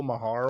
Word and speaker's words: Maher: But I don't know how to pronounce his last name right. Bill Maher, right?